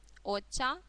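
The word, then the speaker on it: お茶: Обратим внимание на чтение слога ча, оча, оча. Я тут написала, что слово оча может переводиться как японский чай, а также может переводиться как зеленый чай. В принципе, слово «оча» собирательное, точно так же, как и «саке».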